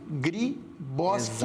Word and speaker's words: Griboski: O Griboski é com KI. Griboski. Exato. Bem como se fala, Griboski com KI no final.